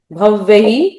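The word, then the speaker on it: भव्यः: य सेत्वम भव्यह जो दो बिंदु आए हैं ऊपर डबल मात्रा होने से भव्यह कथम तदपि नाश यश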